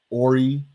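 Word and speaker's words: Horry: there on the flyer ori h o r r y the h is silent bail fund dot org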